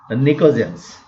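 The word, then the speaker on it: pnictogens: P is silent here, nicogens.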